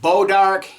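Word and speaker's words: bois d'arc: did about oage orange some people call it bodar you use the French expression Bo AR it just depends on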